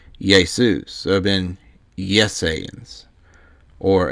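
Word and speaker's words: Ἰησοῦς: to Jesus right but Jesus's name wouldn't have been pronounced Jesus in Greek it would have been yesus so it been yesan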